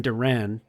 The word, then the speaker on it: Duran: that the Red Sox have named Jiren Duran Durant. Jiren Durant.